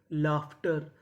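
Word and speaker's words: laughter: अब हमारा अगला नियम ये है कि अगर आपको इंग्लिश में कहीं पर यूजी एच लिखा मिले तो हम लोग यूजी एच को पढ़ते हैं फ।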